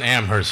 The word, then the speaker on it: Amherst: Yeah, we pronounce the H in Amherst, y'all.